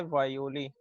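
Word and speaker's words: guayule: इसको पढ़ते हैं वायोली, जी साइलेंट होता है और डब्ल्यू की आवाज निकालता है।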